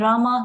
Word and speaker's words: rama: hari krishna pronounced krishna and rama rhymes with drama are sanskrit words hare